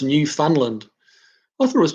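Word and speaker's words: Newfoundland: shall we call um Andy nickel haha it's pronounced New Finland I thought was New Foundland okay well you got to learn something every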